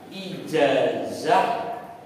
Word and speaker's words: ijazah: kita seperti itu nah tapi ketika ijazah pakai ijaah pakai Z gitu loh kembali ke asli jadi orang Indonesia itu